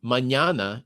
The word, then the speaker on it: mañana: I've got them, And and then I learned that the soft N in Russian, the ñ, it's the second consonant of mañana in Spanish.